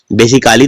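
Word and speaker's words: basically: आया है डबल एलवाई क्या बोलते हैं बेसिकली बेसिकली तो नहीं बोलते क्योंकि ए का उच्चारण नहीं होता क्या बोलते हैं बेसिकली अब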